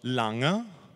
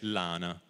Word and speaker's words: lana: vocale ad esempio quindi la parola lana si pronuncia a Genova, a Chiavari, a Lavagna a Savona, a Moneglia eccetera, a Rapallo Insomma "laña", con questa n velare mentre il resto della Liguria dice "lana" quindi lo stesso si